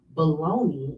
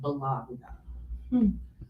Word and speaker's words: bologna: It says it follows the pattern of Italian words ending in IA, such as Italy, Sicily, and Lombardy. So that is why it is pronounced bologna and not bologna.